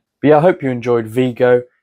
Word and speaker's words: Vigo: I hope you enjoyed Vigo uh the place that rhymes with uh Nico or whatever that guy